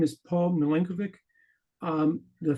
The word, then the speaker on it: Milenkovic: Paul milenovic um the family name meeno is a variant of Michael Mikel mileno and the Vic at the end is a patronic meaning son of so milenovic is how I and my relatives pronounced name in the English language um I was discussing